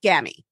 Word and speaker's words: Gammie: be right about this so it is gammy yes he did you got it right all